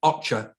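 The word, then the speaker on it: OCHA: of humanitarian affairs which is the acronym that's pronounced ocher which deals with the different parts of the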